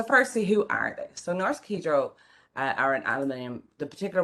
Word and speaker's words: Norsk Hydro: that i pronounce that norse kidro because that's how they pronounce it in norway even though all week i have been calling it norse hydro as we would pronounce